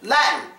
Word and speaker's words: Latin: yes it is Latin we pronounce it Latin it gets a silent T yes now let's go